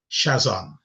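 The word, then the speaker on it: chazon: And the word for vision here is shazam. Um my pronunciation I'm always conscious of it is C H A Z O N meaning a vision.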